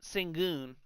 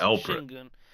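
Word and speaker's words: Şengün: His name is Alprin and his last name is Singun, but it's pronounced Shingun.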